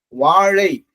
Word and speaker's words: வாழை: ழா தமிழ் தமிழ் நம்ம உச்சரிக்கும் போது எதுல இருந்து இந்த லகரம் வந்து ஒரு உச்சரிப்பு பயிற்சி. வாழை வாழை தான் சிறப்பான உச்சரிப்பு பயிற்சி.